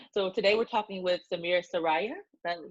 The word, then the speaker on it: Samir Saraiya: i'm doing well so today we're talking with samir soraya that's how you pronounce it that's absolutely right perfect he's the